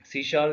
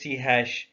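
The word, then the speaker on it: C#: سی شارپ ایک دوسری popular language ہے that is سی ہیش. ہیش means pronounce سی شارپ.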